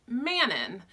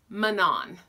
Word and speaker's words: Manon: in my head I said her name as Manon it's spelled ma n om so she's to me